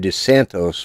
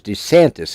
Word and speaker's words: DeSantis: yesterday i called him i said de santos because you know i'm thinking it's florida they're probably cubans okay no he's italian and it is desantis and that was what